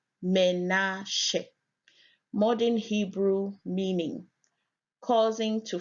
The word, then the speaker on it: Menashe: Menashe, pronounced Menashe.